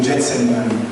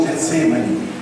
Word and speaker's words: Getsêmani: das oiras mais precisamente no Getsemani ou Getsemani pode ser pode ser as duas pronúncias né É um lugar é